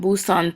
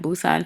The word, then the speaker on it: Busan: the whole Busan Tower, pronounced in Korean Busan Tower. We were trying to get a cab to go here and we were saying Busan Tower and they did not know what we were talking about.